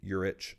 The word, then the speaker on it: Yurich: And now I get constantly mispronounced as Yurich, or I put down on a open mic slip signing up once, Yurich like itch, for the pronunciation.